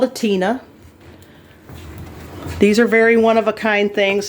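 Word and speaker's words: tine: It's called a Tina, but it's spelled T-I-N-E.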